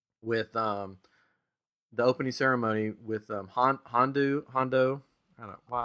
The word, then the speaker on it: Hondo: the opening ceremony with Hondo. I don't know why I always pronounce his mispronounce it. I want to say Honda Accord, but I know that's not his name.